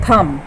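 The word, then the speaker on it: thumb: सी the next word, अभी आपको पता है थम, लेकिन ब साइलेंट है इसमें, थ के लिए थ लगा ये, और एम, म, थ म, और जो आवाज़ आ रही है थम, बी की साइलेंट रहेगी साउंड यहाँ पे।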